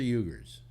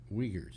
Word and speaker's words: Uyghurs: And or is it Uyghurs or Uyghurs? Uyghurs. I've heard it pronounced both ways.